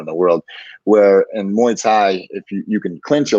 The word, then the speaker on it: Muay Thai: Is that how you pronounce it? Muay Thai.